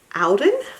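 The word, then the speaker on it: Auden: by my very favorite brand alden i believe is how you say it it's available at target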